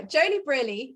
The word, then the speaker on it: Joeli Brearley: Joeli Brearley, is that the right pronunciation of your name?